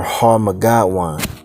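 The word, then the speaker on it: Har-Magedon: It says in the Hebrew tongue Armageddon or Har-Magadwan. That's how you would say it in the Paleo Hebrew.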